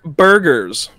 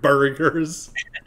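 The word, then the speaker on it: Burghers: And became the Pittsburgh Burgers. Oh, no. Burgers. It's spelled B-U-R-G-H-E-R-S. A random H for no reason.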